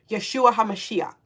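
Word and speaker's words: ישוע המשיח: Yeshua Hamashiach is how you say that in um Hebrew.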